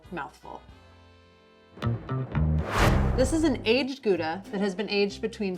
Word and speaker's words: Gouda: in holland and actually takes its name from the town of gouda which is actually pronounced hauda young gouda tends to